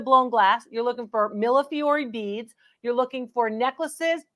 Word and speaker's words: millefiori: Some of you like to have me pronounce that last sound, millefiori beads.